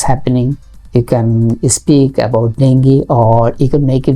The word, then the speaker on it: dengue: Another topic you can select, that is dengue. Dengue actually, not the correct pronunciation, it is dengue.